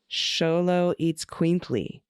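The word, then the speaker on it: Xoloitzcuintli: it Holo oh sholo yep eats queenly okay sholo eats quintly the first syllable of sholo and the second syllable eats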